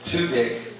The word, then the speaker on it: Tudyk: me sign this but see it has two dick T dick like you would see it in a in a uh dictionary to show you how to how to say the name thank you very much